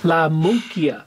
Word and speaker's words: La Munkya: it sounds kind of like a monkey. La Munkya.